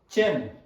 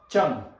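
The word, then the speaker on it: ཅན: Sapatapa payatacha cha na chen. Sapatapa payatacha na chen. Sapatapa payatacha cha na, not chang but chen, because it's adding imaginary tempo on the consonant.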